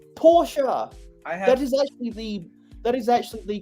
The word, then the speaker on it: Porsche: So many people think it's pronounced Porsche, but all of the posh people who own Porsche, who own Porsches will let you know, hey, it's actually pronounced Porsche.